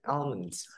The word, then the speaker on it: almonds: 여기서 L 발음 잘안 나죠. 여기서 소리로 여러분들이 들어보셨다시피 The almonds 이렇게 들었는데 almonds 되게 살짝 들려요.